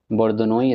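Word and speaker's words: La Bourdonnais: बोर्दनोई इसका प्रोनाउंसिएशन है।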